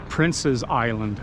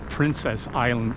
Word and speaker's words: Prince's Island: is over there and it's actually Prince's Island, not Princess Island as many people seem to pronounce it.